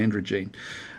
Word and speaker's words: androgyne: An androgyne, I've had to write that next to it just so I remember how to pronounce it. I keep on thinking of androgynous, but I'm pretty sure it's an androgyne.